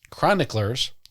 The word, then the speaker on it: chroniclers: Illig argues that Charlemagne and his dynasty were invented by medieval chroniclers. You fucking idiot. It's pronounced chronicle. Characagir.